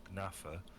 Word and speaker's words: gnafa: Michael Quinnen, who is an entomologist, says it probably comes from the 16th century Latin word gnafa, silent G presumably, meaning a despicable person.